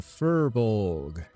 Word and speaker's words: furbolg: five seconds remaining damn fullborg full bog herbal i'm not even sure how to say it anymore i can't speak let me see here is it for bulge or fur bog it's a furbolg yup it's a furbolg